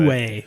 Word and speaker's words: Uwe: still by the same creator, whose name is unpronounceable. Uwe Rosenberg. Uwe, that's what I was saying. Uwe.